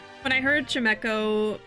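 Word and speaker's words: Chimecho: Or Chimico? I think we said, like, Chimico or something like that. But yeah, it's like a chime echoing, so Chimeco.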